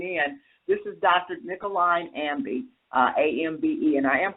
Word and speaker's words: Ambe: that are listening in this is Dr nicoline Ambi uhbe and I am pronouncing that correct is that right yes you